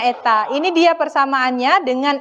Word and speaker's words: eta: huruf N ya yang disebut dengan Eta ya bacanya Eta ini dia persamaannya dengan